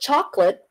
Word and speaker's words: chocolate: lot of people get chocolate for their for their love on Valentine's Day chocolate Okay English conversational High syllable two syllables chocolate chocolate it's not chocolate chocolate it is for sure not could I didn't know